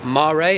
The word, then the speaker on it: Mare: Super comes from the Latin for above, as in superimpose, and mare or mare, as it was once pronounced, means sea or by the sea in Latin.